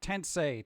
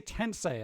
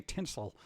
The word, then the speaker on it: Tensei: I should be able to say Tensei. I keep wanting to say Tinsel.